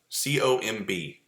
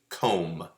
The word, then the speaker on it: comb: right like like um like comb c-o-m-b comb okay t-o-m-b tome no that's a tomb oh okay spelled the same except for the first letter but the rest of it sounds good okay what about uh b-o-m-b boom no that's bomb comb tomb and bomb completely sounding different right different syntax or